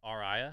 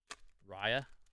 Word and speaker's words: Raya: Is it not Rhea? It's Raya. Is that how you say it? Sleepy's Flute going to Amber. Dr. Facilier going to Emerald. And Owl for Sapphire. Raya, not Rhea.